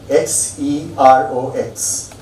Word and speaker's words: Xerox: And one of the first companies to benefit from that is a company whose name is spelled X E R O X Xerox.